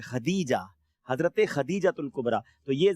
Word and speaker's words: خدیجہ: Normally Khatija کہتے ہیں لوگ, تا کے ساتھ پڑھ رہے ہوتے ہیں, لیکن ہم جب کتابیں پڑھتے ہیں تو یہ دال کے ساتھ ہے, خدیجہ, حضرت خدیجہ الکبریٰ.